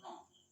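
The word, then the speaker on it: wrong: For example जैसे आर से पहले मैंने कहा रॉन्ग, राइट, एग्जांपल हो गया। इस स्थिति में क्या है, डब्ल्यू साइलेंट है, तो जब भी आर के पहले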